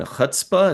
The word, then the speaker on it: chutzpah: And I'm just a fan of irony and chutzpah. Is that how you pronounce that?